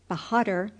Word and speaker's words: Behadr: It sounded something like this, _Yezonkai Behadr_, with the accent on the last syllable, Behadr, and the _a_ sounded like _a_ in _hark_.